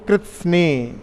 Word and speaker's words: कृत्स्न: ये कृत्स्न शब्द भी बड़ा विचित्र है। कृत्स्न शब्द का उच्चारण करते हैं तो जीभ पूरे मुख में घूम जाती है। कृत्स्न बोल के देखिए आप, जीभ पूरी घूमेगी उसमें।